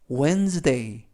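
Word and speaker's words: Wednesday: 뜻은 잘생긴 이라는 뜻입니다 w 는 5 이는 에 에 그리고 튀는 모금 빼는 느 그리고 이도 모금 쓰는 이번에는 느 뛰는 드 a 와인은 이중모음 a 그래서 완 스 데이 웬 스 데이 라고 발음합니다 뜻은 수요일 이라는 뜻이고요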